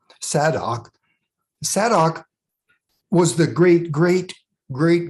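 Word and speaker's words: Zadok: priest and the remaining high priest was named saddock and that's spelled z-a-d-o-k he was from the tribe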